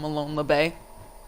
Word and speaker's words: Molon Labe: Equalizing round coming out from Molon Labe on the defense. And anyone who are wondering, that is the correct way to pronounce it.